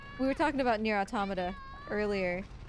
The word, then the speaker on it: Automata: And yeah, like last year, we were talking about Nier Automata earlier. Or Automata, depending on how you say it.